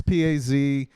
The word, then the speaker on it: Pazuzu: I knew Oh, how to pronounce it at one time, but it's Pazuzu, and their new album's called Mestering Kunzi, and